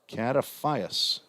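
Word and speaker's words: Katafias: to retire kataphius again common spelling of all these names cataphia spelled k-a-t-a-f-i-a-s kataphius just like it's spelled Wyatt Fuchs f-o-o-k-s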